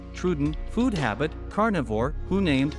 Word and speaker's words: Troodon: truden name meaning wounding tooth pronunciation trudent food habit carnivore who named Joseph Lighty thank